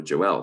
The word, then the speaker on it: Joel: the of his firstborn was Joel so Joelle sometimes sometimes pronounced and the name of